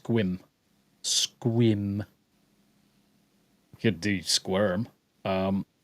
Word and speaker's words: Sequim: except for Sequim um because there's an e in there where it's actually pronounced squim squim could do squirm